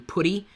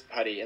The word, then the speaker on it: PuTTY: For years, I called it PuTTY because it's spelled like putty. And I guess you could say it's PuTTY, but it's talking about the command put, so it's PuTTY.